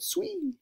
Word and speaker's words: Sui: Yeah, that's how you pronounce it. Sui, okay.